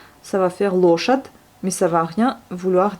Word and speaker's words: лошадь: Et le D, comme on a déjà vu, qui peut se prononcer des fois comme un T, puisque là, il est ramolli par le signe mou, et on l'entend comme un T, лошадь, mais on écrit un D.